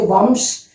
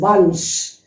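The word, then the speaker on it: वंश: We don't say vamsh. It is vansh. Vansh. V-A-N-S-H. Vansh. Okay.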